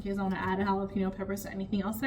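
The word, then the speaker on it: jalapeño: Um, or jalapeno peppers is the proper way to say it.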